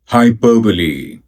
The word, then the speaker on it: hyperbole: hyperbole hyperbole hyperbole high per b lee high per b lee